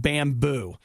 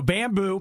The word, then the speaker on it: Bambu: here in the United States, launch something called Bamboo. Okay. BAMBU. Of course. You can't spell it the normal way.